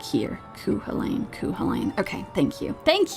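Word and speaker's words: Cú Chulainn: Kuh Helain. Okay, that's what I thought. That's what I thought. Kuh Helain. Okay. Okay. That's also what it seems like here. Kuhalain.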